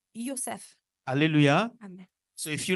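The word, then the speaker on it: יוסף: And his name in Hebrew Et son nom en hébreu is said Yosef. se prononce Yosef.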